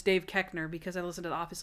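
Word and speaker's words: Koechner: on david kekner's name i didn't know how to pronounce it i was like coachner call corner oh yeah but i should have known it's dave kechner because i listen to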